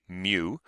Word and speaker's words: mu: You spell that Greek letter mu. You say mu.